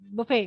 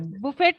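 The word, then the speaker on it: buffet: हो गया ब system बफे बफे बफेट system बफेट नहीं होता है यह फ्रेंच वर्ड है तो फ्रेंच में लास्ट का जो टी साइलेंट होता है बुफे बुफे बफे बफेट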